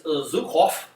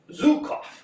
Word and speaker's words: Zhukov: to pronounce his name it's Zhukov Zhukov the accent on the right so cough sounds very Russian to me as long